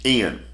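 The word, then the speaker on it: ἐν: e n n and e n is pronounced in but the holy spirit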